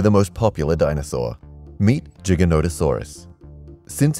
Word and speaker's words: Giganotosaurus: The name Giganotosaurus has nothing to do with gigantic. Giganotosaurus is Greek for giant southern lizard, not gigantic lizard, as it's often mistranslated and mispronounced.